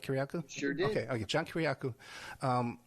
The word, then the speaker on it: Kiriakou: it's news articles saying that John Kiriakou, I pronounced that correctly, right, Kiriakou?